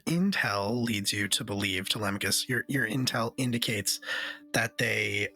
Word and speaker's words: Telemachus: Telemachus, yeah.